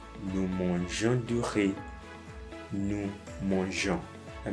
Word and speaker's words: mangeons: It's to have a smooth pronunciation. That's why I would say, nous mangeons du riz, nous mangeons.